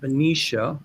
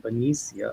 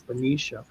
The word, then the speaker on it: Benicia: And then somebody told me it's pronounced Benicia, and I've been mispronouncing it with Benia. It's Benicia.